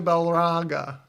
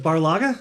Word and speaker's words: Barlaga: Well, we need to talk to Balaga. Is that the right way to say it? Barlaga. Barlaga.